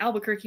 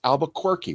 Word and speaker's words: Albuquerque: I am in Albuquerque, New Mexico. Yay! But you said it wrong. It's Albuquerque.